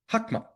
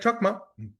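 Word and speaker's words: Chokhmah: The second one is Hakma. Looks like Chakma, but they pronounce it Hakma.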